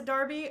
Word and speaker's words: Derby: it was Derby only because of a football Darby yeah I just say dark I'd say Derby